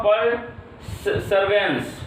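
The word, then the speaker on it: perseverance: Next लिखा हुआ देखो पर, क्या लिखा हुआ, पर सर्वेंस, ठीक है, इसको पढ़ते हैं प्रीसर्वेंस, ऐसे पढ़ते हैं एक्यूरेटली में, लेकिन स्पेलिंग देखो PERSEVERANC, प्रीसर्वेंस।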